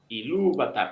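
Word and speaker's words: Ilúvatar: sílaba convirtiéndose en esdrújula e yatar iluvatar la segunda sílaba es va va la vocal no tiene no es larga no lleva una tilde no es larga no está seguida por grupo consonántico solamente tiene una t Entonces no pongo ahí el énfasis me paso a la antepenúltima sílaba yata nú no Exacto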